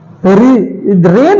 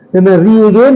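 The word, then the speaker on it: reign: है जी साइलेंट है रेन है रेन आर ई आई जीी एन गाइन नहीं रिगेन नहीं रेन है रेन जी साइलेंट है फगन फगन फगन तो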